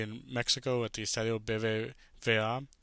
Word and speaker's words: BBVA: And then we have Monterrey in Mexico at the Estadio BBVA. I think that's how you say it. I think, yeah, V de Vaca. That's how we say it in Spanish.